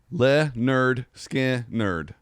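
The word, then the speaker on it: Lynyrd Skynyrd: name of leonard skinner's first album i don't pronounced le nerd skin nerd like that's the name of it so it's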